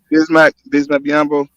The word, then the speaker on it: Bismack Biyombo: How you pronounce his name again? Bismack Biyombo.